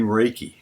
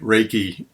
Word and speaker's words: reiki: go into another point reiki again i mentioned before r e i k i r e is a syllable that means that's pronounced like the name rey like a man's name r-a-y but rei means universal